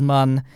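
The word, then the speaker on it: Mün: So people keep telling me I'm pronouncing mun wrong. I've been told by the developers themselves that the correct way is mun, and moon is just, I don't know.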